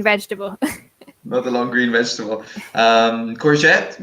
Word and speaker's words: courgette: the long green vegetable courgette well da is the British English term for it the Americans say tsukimi yes so more similar to the Italian okay is my favorite